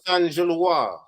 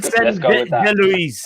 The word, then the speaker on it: Saint-Gilloise: The French pronunciation in it, where they don't say the S and the E in it.